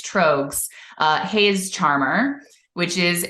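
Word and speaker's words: Tröegs: by beer nerds but I thought it was Triggs but it's trogs uh Hayes charmer which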